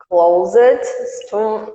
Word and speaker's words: closed: Agora tira o E. Não pronuncia o E. Tira o E. Como é que fica? Closed. Closed. Não é? Então é assim que vai ficar. Não tem o E.